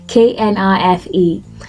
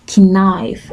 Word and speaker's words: knife: I say k i k n i f e now the K is completely silent so you'd have knife not kif and that would be